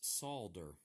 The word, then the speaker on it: solder: You know, there's another word that has an L in it that I pronounce, and that's solder.